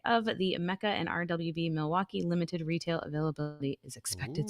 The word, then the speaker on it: Milwaukee: It's actually pronounced Milwaukee.